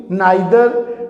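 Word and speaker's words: neither: आइदर, non, both, everyone, every, नाइदर, कुछ इसको नीदर भी कहते हैं, नीदर भी करेक्ट प्रोनाउंसिएशन है, नाइदर भी करेक्ट प्रोनाउंसिएशन है।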